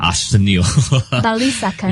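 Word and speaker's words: Arsenio Balisacan: The National Economic Development Authority Director General how to pronounce the name? Arsenio Bali second.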